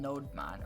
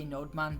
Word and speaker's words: Nodemon: much easier, and that's called Nodemon or Nodemon. I've heard it pronounced both ways. I say Nodemon, but I think that's wrong.